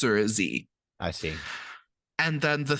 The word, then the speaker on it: xe: They're Z, Zir, Zirs, and that's spelled with an X.